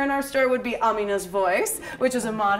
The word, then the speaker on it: Amina: But in my head, she's Amina and I can't switch. And that's the Pakistani way of pronouncing it.